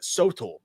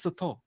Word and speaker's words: Sotol: I've been calling it Sotol, and he was like, "It's Sotol," and I was like, "Fuck, I feel so stupid.